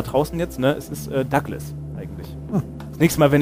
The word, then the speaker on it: Douglas: Ja, es wird auch offiziell, also auf Wikipedia steht zumindest offiziell, dass die Aussprache, die, Aussprache dann, ja. die Lautsprache, dass, ja. Dass es Douglas ausgesprochen wird.